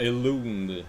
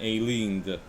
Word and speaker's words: Elund: Et pas Elund, mais Elind. Pourquoi qu'il y a un U de base si ça se prononce I?